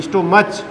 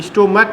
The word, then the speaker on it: stomach: ना, MACH बोला है, लेकिन इसको स्टोमच नहीं बोला जाता, क्या बोला जाता है, स्टोमक बोला जाता है। क्या बोला जाता है, स्टोमक। इसमें अच साइलेंट रहता है, जैसे ऑनेस्टी में अच साइलेंट रहता है ना, हॉनेस्ट नहीं बोला जाता, वैसे यहाँ पर क्या रहता है, CH जो है साइलेंट रहता है, इसको के की ध्वनि से बोलते हैं, स्टोमक बोला जाता है।